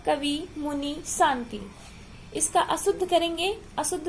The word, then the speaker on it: शांति: शुद्ध उच्चारण में क्या है, शुद्ध उच्चारण क्या है, कवि, मुनि, शांति। इसका अशुद्ध करेंगे, अशुद्ध उच्चारण स्थान जो अशुद्ध शब्द होगा वो क्या है, कवि, मुनि, साती।